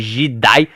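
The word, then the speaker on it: Je'daii: Jedi, que nessa época era chamada de Jidai. Um pouquinho diferenciada a pronúncia, eu sei, mas eu gosto particularmente bastante.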